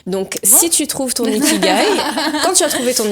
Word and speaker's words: ikigai: I-K-I-G-A-I. Voilà. Et ça se prononce Ikigai.